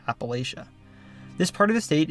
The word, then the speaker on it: Appalachia: state is part of Appalachia or Appalachia. The pronunciation really depends on where you live, but most Ohioans say Appalachia.